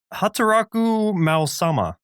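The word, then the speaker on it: Hataraku Maou-sama: Hataraku Mao-sama, which is Working Demon King or Demon Lord at Work.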